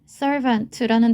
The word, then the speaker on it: servant: 그래서 종, 하인이란 뜻의 servant라는 단어는 발음처럼 윗니와 아랫입술이 닿는 V 소리가 들어있는데요. 첫 번째 음절에 강세를 두어서 읽어보도록 하겠습니다.